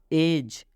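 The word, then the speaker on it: edge: एज, कितने लोग इसका उच्चारण एज करते हैं, तो ये उच्चारण गलत होगा। एज क्या पढ़ेंगे? एज। डी के बाद जी है तो इस डी का उच्चारण नहीं करना है, ये डी साइलेंट यहाँ पर है।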